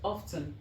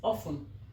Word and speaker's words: often: please ensure that you do not call this word often. So many people call it often, and the real pronunciation is often. So make sure you call it often and not often.